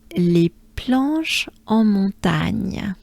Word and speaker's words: Les planches en montagne: Les planches en montagne.